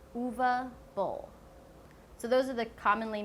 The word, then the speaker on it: Uwe Boll: Not Uwe, not Uwe. It's Uwe Boll.